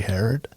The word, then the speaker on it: Herrod: Today we have Alaska outdoor adventure photographer Jerry Herrod.